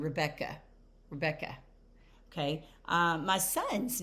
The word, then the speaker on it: Rebecca: So remember my name, Rebecca. So my stressed syllable was Beck. So Rebecca, that at the end obviously is not stressed, but you can also